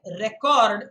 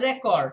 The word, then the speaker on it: record: When you say record, it's the noun form. So a record, a file, data that is kept is a record. When you use it as a verb, then it is pronounced record.